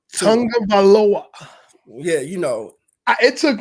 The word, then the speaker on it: Tagovailoa: 82, Tua Tagovailoa. Tagovailoa.